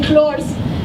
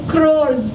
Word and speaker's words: crores: No, but L sound is coming, clores. I said, no, it's crores.